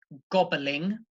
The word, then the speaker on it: gobbling: In the first word, gobbling, gobbling, that is 3 syllables.